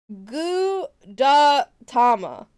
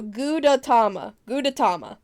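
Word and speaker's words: Gudetama: Gouda Tama. Or like, yeah. Okay, like, alright, so Gouda Tama. Okay, so I just need to hold out the O a little bit more.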